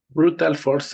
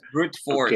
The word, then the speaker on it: brute force: Brutal force attack. No, A brute. trial and error. Brute. Aguas, dijiste brutal. Entonces estás diciendo, ya dijiste que fue brutal. No, es brute force.